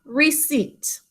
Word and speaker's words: receipt: Receipt. You remember how we think to spell it? Josiah, do you remember? Receipt. Good, receipt. Silent P.